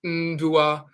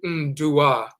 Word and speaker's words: ndua: the prefix, so it's ndua, and they'll pronounce the U as a nasal, so ndua becomes nduia, nduia, and sometimes it sounds like people saying ndria, but it's really ndua with a nasal U,